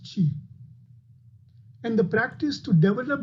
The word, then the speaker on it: qi: it is spelled q i but it is pronounced g and the practice to develop this g is